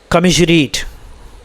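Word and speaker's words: commiserate: अच्छा देखिए, इसका जो प्रोनाउंसिएशन है दोस्तों वो है कमिशरीट। क्या है?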